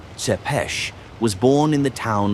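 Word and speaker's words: Țepeș: Vlad the Impaler, Tapes, pronounced Seepesh, was born in the town of Sigashora in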